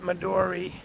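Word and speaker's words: Madeore: Um it's spelled M A D E O R E, but they pronounce it Madori.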